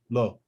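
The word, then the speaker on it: לא: a dot up here it makes an o sound so if you know how this letter is pronounced remember this is open in the mouth so low lo this word is pronounced lo whipping the ox it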